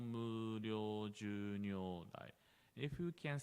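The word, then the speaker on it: 無量: If you can try yourself, first try without u, like kimyo, muryo, yeah? Just we pronouncing o, but it's not correct. We have to pronounce u gently.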